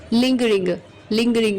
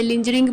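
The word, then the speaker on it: lingering: sluggish, slack, या फिर लिंगरिंग इसे लिंजरिंग प्रोनाउंस नहीं करेंगे, लिंगरिंग प्रोनाउंस करेंगे, या फिर स्लो या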